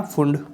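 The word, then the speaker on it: Pfund: और fifth number का कौन सा था अपना, फुंड, एफ साइलेंट होता है, फुंड हम्फ्री, लास्ट कौन सा, हम्फ्री, ठीक है।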